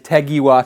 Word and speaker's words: Tegiwa: to do to so being welsh i pronounce everything phonetically that is tagiwa to me either way let's